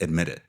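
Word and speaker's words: EDMIT IT: And so I made a brand and it It was spelled EDMIT space IT, and it's pronounced admit it.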